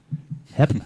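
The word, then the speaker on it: Hepp: What's up, Hemp? Listening from Philly. What's up, homie? Did I just say your last name wrong? Hep. Is it Hep? Hep? H-E-P-P? Hep, right? That would be Hep.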